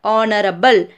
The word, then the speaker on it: honorable: The first letter H in these words is silent. And the first sound we hear is this, that of O sound. Honor, honorable, and R.